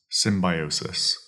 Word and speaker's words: symbiosis: Symbiosis. That is spelled S-Y-M, sim, bio, B-I-O, sis, S-I-S.